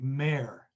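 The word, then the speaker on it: Mhaire: there's there's a there's a first name for for a female in irish that is m h a i r e which we would probably say mer or something like that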